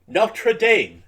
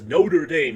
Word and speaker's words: Notre Dame: person you I I I am going to pronounce it correctly notra Dame notra notra our our mother or our lady notam notra Dame not Notre the hell says Notre Dame you're pronouncing it wrong